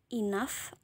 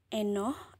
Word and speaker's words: enough: tapi kita bacanya a nah gh-nya dibacanya huruf F huruf F loh jadi ini cara bacanya itu enough terbayang cara bacanya enough Oke jadi bukan inog atau enog ya seperti itu memang